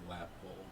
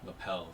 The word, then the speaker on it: lapel: skull please i have a red rose my lap bowl lapel lapel thank you lappl i'm sorry i'm terrible at pronouncing words they don't know like on how